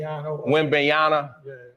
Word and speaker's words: Wembanyama: Wembanyama.